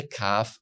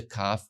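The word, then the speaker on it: כ: like King for example when there is no Dot you pronounce the cough as a it's a rougher it's a breathing sound ha you rub the letter with your throat so that it doesn't pronounce the hard k sound but the rougher sound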